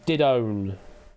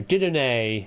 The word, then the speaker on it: Didone: Didone is how it's probably pronounced.